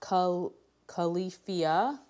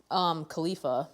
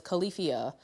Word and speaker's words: Califia: It's pronounced Califia. I thought it was Khalifa, but it's Califia.